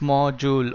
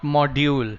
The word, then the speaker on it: module: reading a module hey the pronunciation is more jewel okay more jewel it is not module okay right so we